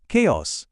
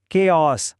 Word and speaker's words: chaos: Wednesday, ఖేయాస్, genre. తేడా గమనించారు కూడా? ఇప్పుడు నాతో పాటు చెప్పడానికి ప్రయత్నించండి. Wednesday, ఖేయాస్, genre.